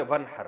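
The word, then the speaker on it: وانحر: तो वन असल में था व इन हर पढ़ा जाता है मिला के वन हर, तो अलिफ साइलेंट हो जाता है।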